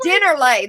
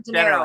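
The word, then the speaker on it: Dennerle: Dinnerlay. There we go. Dinnerlay, right? Yeah. That's how you say it? Dinnerlay or Dinero? Dinnerlay. No, Dinnerlay.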